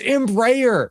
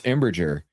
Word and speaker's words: Embraer: It's Embraer.